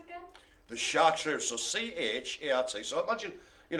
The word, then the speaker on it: Chartreux: The Chartreux, so C-H-A-R-T. So imagine, you know, phonetically it's chart and then Riux, and it's a black cat facing the camera, if you will, or facing forwards.